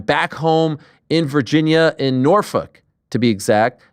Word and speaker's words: Norfolk: How do like the actual locals say it? Norfolk. Norfolk. Norfolk. Oh, like literally like fuck.